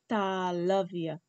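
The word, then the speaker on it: तालव्य: And that is the English pronunciation, talavya.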